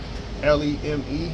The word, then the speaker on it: Leme: Like this area is called Leme, Leme. I think Leme, that's how you pronounce it.